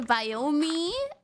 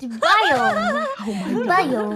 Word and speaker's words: biome: I say iron and I say Biomi.